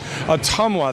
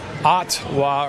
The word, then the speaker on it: Ottumwa: this great town of 25,000 people this is atuma that's how you pronounce it atuma I thought it was atwa or whatever but it's a tomwa uh Tom